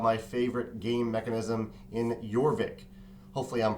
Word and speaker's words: Jorvik: favorite game mechanism in yorvik hopefully I'm pronouncing that correctly it has a j but I think it's a yorvik sound um yorvik is by